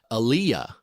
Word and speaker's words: aliyah: The word is, and excuse my pronunciation again, aliyah, A-L-I-Y-A. It's a Hebrew word, aliyah.